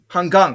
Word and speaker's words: Hanggang: right so and then the NG is a okay so hang do I have the first hang hung so it's a hard G because there's two G's there so I wasn't sure